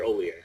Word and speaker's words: Hollier: it has the H on the beginning of it. Looks like Hollier, sounds like Ollier.